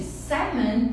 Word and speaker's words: salmon: For example, when you eat Japanese food, the salmon, gente, salmon é salmão, a pronúncia é salmon.